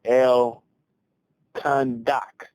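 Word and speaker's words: Al-Khandak: One of the major battles that came up was one called the El Khandak battle. That's how I pronounce it, because it's A-L, then hyphen K-H-A-N. So I'm assuming it's pronounced just like Khan, and then D-A-K.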